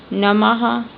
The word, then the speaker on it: नमः: जैसे नमः प्रातः अंतः दुख इसका उच्चारण हा के समान ही होता है। ठीक है? नमन जैसे नमन नम करते हैं ना हम नमः तो इसमें ह का उच्चारण हो रहा है।